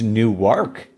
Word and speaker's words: Newark: Henry to school and corrected that it's not Newark it's new YK Delaware so everyone who is about to write